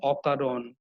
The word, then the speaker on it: অকারণ: যেমন ধরো অকারণ, অকাজ, এই যে শব্দটি অকারণ, এখানে অটা কিন্তু অ এর মতোই উচ্চারণ আছে। অটা কিন্তু ও এর মতো উচ্চারণ হয় না। আমরা নিশ্চয়ই বলি না যে অকারণ, আমরা বলি হচ্ছে অকারণ।